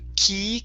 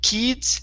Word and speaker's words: kids: first up we have the word kids instead of key kids it's K Kids good there you go okay